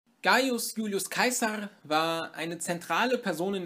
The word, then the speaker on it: Caesar: habe keins hat gesagt in deutschsprachigen raum wird man wahrscheinlich am meisten und am häufigsten cesar hören allerdings bevorzuge ich die aussprache klar weil es eben die antike aussprache seines namens ist das ist die aussprache die seine zeitgenossen auch gebraucht haben und deswegen werde ich in diesem video auch von kaiser reden gut beginnen wir mit